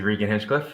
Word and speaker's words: Regan Hinchcliffe: My name is obviously Regan Hinchcliffe, and you pronounced it just fine.